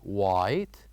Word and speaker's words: white: And the third one, white, where H is silent.